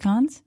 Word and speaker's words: Cannes: It's Cannes. Cannes is an American thing. And No, Con. Cannes. Is it Cons? Cannes. The S is not silent. Can. No. Cons. Got it. Rhyming with Hans.